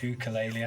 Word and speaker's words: ukulele: And we were thinking of names and we split the word ukulele, which we all pronounce wrong apparently. It's ukulele, I think.